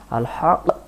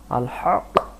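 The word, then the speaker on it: الحق: আল্লাহতালা রক্ষণাবেক্ষণ করে রেখেছেন আল হক হক কার্যকারক আল্লাহতালা সত্যই প্রদান করবে কোন অসত্য আল্লাহতালা করবে না আল হাক আল হাক আল হাক তাহলে আমরা সহি উচ্চারণ আলহা হক হক বললে সহি হয় না হক কার্যকারী আল ওয়াকিল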